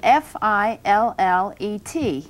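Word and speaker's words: filet: the word that we use in describing fish is spelled f-i-l-l-e-t and it should be pronounced fillet if you're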